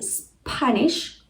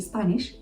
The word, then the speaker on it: Spanish: spanish we say espanol so we add an e at the beginning so the natural tendency is to add an e sound at the beginning of this word so please please please don't do it let's have a look